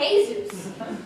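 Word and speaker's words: Jesús: and jesus monoglo and jesus you don't pronounce jay where is your j manolo and jesus stop worrying will you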